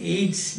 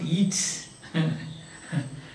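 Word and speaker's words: Yeats: by william but love aids pronunciation is aids not eats william but love aids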